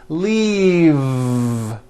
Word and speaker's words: leave: with a voiced V keep the voicing going throughout the whole word and voice the V leave like that if you stop the voicing at the end of the vowel e then you would be saying leaf with an unvoiced f and the word we're trying to say is leave with that voiced V okay now let's look